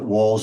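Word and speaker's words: Wahls: So for those people who are interested, the walls is spelled W A H Ls, the the Walls protocol.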